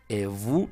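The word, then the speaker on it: et vous: cuatro ya lo sabes evu Ya te lo he dicho porque e nada más es e porque la t final no se pronuncia en francés por eso se dice evu sí la s final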